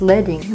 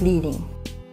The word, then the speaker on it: leading: Because the strips were made from lead, the word is pronounced leading, not leading.